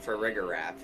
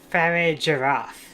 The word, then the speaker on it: Farigiraf: See, mine was always Girafarig and Farigiraf. Yeah. I guess it makes sense, but or it would doesn't it be, feel right. Or would it be Farigiraf?